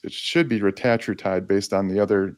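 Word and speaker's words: retatrutide: hits different receptors the retatriutide which people call retatride but it's it should be retatriotide based on the pronunciations doesn't matter but GLP-1 gip and glucagon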